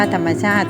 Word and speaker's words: ธรรมชาติ: อ่าน ว่า พืช พันธุ์ ธรรมชาติ อ่าน ว่า ธรรมชาติ ซึ่ง คำ เหล่า นี้ เรา